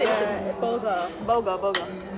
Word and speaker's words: bulgur: Bulgur.